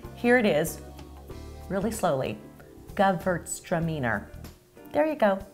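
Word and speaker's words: Gewürztraminer: the second thing here it is really slowly GT stramer there you go not as hard as it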